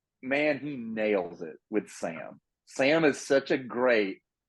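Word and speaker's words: Samhain: it's like uh the the the witch girl says it earlier it's like San ha Sam ha or like whatever the yeah which is a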